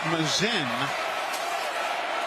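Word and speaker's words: Masin: Frazier Mazin spells his last name M-A-S-I-N. M-A-S-I-N. Pronounces it Mazin.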